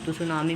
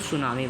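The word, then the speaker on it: tsunami: त्सुनामी में T silent होता है तो सुनामी बोलते हैं लोग।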